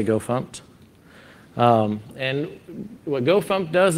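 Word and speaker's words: gofmt: pumped and go fix so the first one's go pump that that's how we pronounce it if you say it the other way it's okay but we say go funked and what go pump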